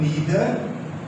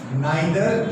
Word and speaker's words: neither: The distributive pronoun neither, either, neither, either. That is, the both pronunciations are same. Whether you say neither or neither, whether you say either or either, are singular and require singular verb.